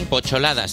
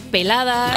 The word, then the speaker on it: P8ladas: Porque es Pocholadas, se escribe una P, un 8 y ladas. Sí. Y estaba diciendo que yo que te sigo desde hace tiempo, en mi cerebro, yo pensaba Pocholadas. Pensabas que era peladas.